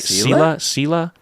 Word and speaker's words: Selah: That's how you pronounce it, right? Selah?